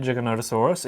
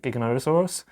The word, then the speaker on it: Giganotosaurus: You're supposed to say it Giganotosaurus, even though a lot of people pronounce it Giganotosaurus.